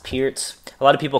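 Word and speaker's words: Pirc: C3 G6 this is known as the the Pierz uh defense for black it's spelled p i r c pronounced Pierz a lot of people call it the perk um so again it's one of these hyper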